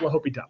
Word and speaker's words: L'Hôpital: Okay, there's some people that don't know how to pronounce this and would say that. We took the hospital route. No, we didn't. We took L'Hôpital. It is French if you don't know.